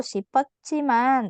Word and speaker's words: 싶었지만: 자, 치킨을 사고 싶었지만 없었어요. 자, 이 부분은 여러분 좀 정확하게 발음해야 돼요. 싶었지만. Nah, jadi kalau ada batcim, di sini ada siot, ketemu sama jiot, maka dia akan terdengar seperti ca, c, gitu ya.